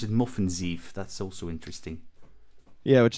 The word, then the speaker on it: Møffenzeef: So you actually pronounce it Moffenzeef.